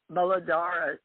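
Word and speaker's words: Muladhara: the root chakra yep known as the molodora i said it right m-u-l-a-d-h-a but my indian friends in sanskrit malad i can't say it like that yeah all right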